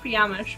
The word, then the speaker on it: fiamhsh: if you don't know my username which is pronounced piamish by the way if you don't know um is actually just the word fish with my initials in the middle amh so it's completely made up word with a completely made-up pronunciation which is why no